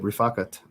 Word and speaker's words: Rifakat: So that is how you say it, Rifakat. I looked up a verbal pronunciation audio of how to say it.